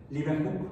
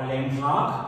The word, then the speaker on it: Leeuwenhoek: Leeuwenhoek. Anton van Leeuwenhoek. O Leeuwenhoek, porque dicen que se pronuncia en holandés.